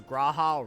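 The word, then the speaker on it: G'raha: great help thank you Rahal I find it interesting that cryle is the only person that calls graha Raha and doesn't use the doesn't pronounce the G very interesting let's sit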